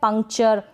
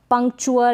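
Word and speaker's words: puncture: फिर ये है पंक्चर, पंक्चुअर ऐसे करके ना पढ़ें, पंक्चर, पंक्चर। फिर ये है टेक्सचर, टेक्सटर ना पढ़े, टेक्सचर।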